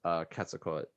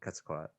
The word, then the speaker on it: Quetzalcoatl: I think you can say it with or without the L, but yeah, So- it's definitely it's not Quetzalcoatl.